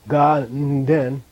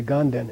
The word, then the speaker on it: Ganden: And together it's ga-den, so people say ganden. And you get many letters from Tibetans in South India that spells it, you know, with a na, gan-den.